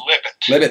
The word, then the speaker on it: Libet: He pronounced his name Libet. Libet, okay, I'm sorry.